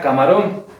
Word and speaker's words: camarón: Nosotros tenemos una palabra aguda cuando la última sílaba tiene esa fuerza mayor de voz. Por ejemplo, yo voy a poner esta palabra. La palabra camarón.